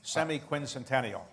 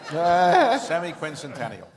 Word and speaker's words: semiquincentennial: for the 250th anniversary how many people can pronounce semiquincentennial that's the key semiquincentennial okay well let's hope we all um we